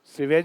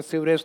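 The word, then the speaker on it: sewage: सीवेज ही होता है, सीवरेज तो अपन गलत बोलते हैं। English pronunciation सीवेज, नॉट सीवरेज।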